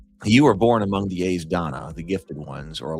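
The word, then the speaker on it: Aes Dána: The A's, so AES rhymes with pays or face. So it's like the A's Donna, and Donna rhymes with fauna. So this is the A's Donna.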